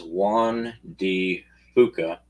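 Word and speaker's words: Juan de Fuca: suggest that the Michigan-sized Juan D. Fuca, I didn't swear, that's what it says, and that is how it's pronounced, believe it or not, plate has a tear.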